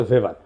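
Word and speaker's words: Weber: না আরেকজন দার্শনিক আছে ম্যাক্স ভেভার এটা ওয়েবার বলে অনেকে এটা উচ্চারণ আসলে ভেভার তার একটা লেজিটিমেসি এবং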